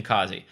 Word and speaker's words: Qazi: I know he pronounced his name Qazi.